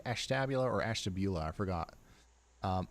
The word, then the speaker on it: Ashtabula: Both Ashtabula, Ashtabula, it could go either way. I like personally I like the way Ashtabula sounds, but I think Ashtabula probably is the way most people say it.